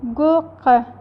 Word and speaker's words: Gurke: If E or R comes at the end of the German word, it will not be fully pronounced, like gurke.